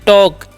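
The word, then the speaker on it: talk: next क्या हमारा समझेगा टी ए एल के तो हम लोग पढ़ते हैं टॉक यहां पर एल साइलेंट होता है ये ध्यान रखना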